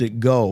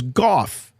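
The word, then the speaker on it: Gough: Michael go or g-o-u-g-h I always pronounced It Go but I found out it was goth pronounced so I'm just going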